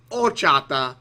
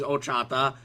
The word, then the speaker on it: horchata: I'm pretty sure it's pronounced horchata and not horchata. I gotta look that up, because I've always called it horchata, as in the H is silent. And if it's not, if it is said, sorry, I just need to check this real quick. Pronunciation, horchata. Yeah, there's no H. Well, there is an H, but it's not, I don't believe it's pronounced.